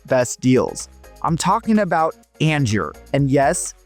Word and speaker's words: Angier: I'm talking about Angier, and yes, it's pronounced Angier, not Angier.